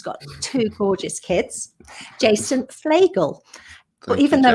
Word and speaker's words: Fleagle: two gorgeous kids jason flagel well even though it's spelt like beagle it's felt pronounced flagel like a bagel that's exactly right yeah